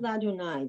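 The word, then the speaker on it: לַאדֹנָי: You would pronounce that La Donai because the la you pronounce and the hey with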